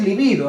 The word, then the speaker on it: libido: Acá es libido, no es lívido, ¿ya?